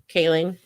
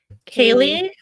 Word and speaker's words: Kaling: Am I saying it wrong? Kaling? Yeah, I think it's ing. Kaling. What did I say? Kaylee? Oh, I meant Kayleen.